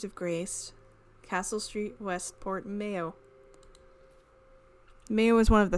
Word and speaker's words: Mayo: The name is from the Irish Mayo, much like the condiment.